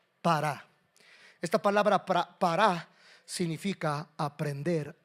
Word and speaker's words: pará: La palabra fructificar en el hebreo, esa palabra es pará. Con con acento en la segunda. Para.